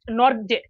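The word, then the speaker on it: Nortje: আফ্রিকার পেসবলার Enrique নরকিয়া এন্ড্রির নরকিয়া বা এন্ড্রিচ নরজে যেটি বলেন আর কি বাংলা আর ইংরেজির উচ্চারণ দুটা দুই রকম হয় তো বাংলায় হয়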